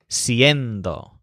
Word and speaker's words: siendo: hacer instead of ser in both cases the stresses on end siendo and haciendo for example to say